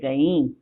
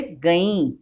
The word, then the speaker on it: गईं: पिलाया पर दूध की बूंदे उसके मुंह के दोनों तरफ गिर गईं। यहाँ अनुस्वार है इसलिए गईं, इसका उच्चारण होगा गईं, पूर्ण विराम।